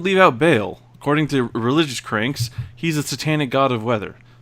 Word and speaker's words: Baal: It's I believe it's pronounced Baal.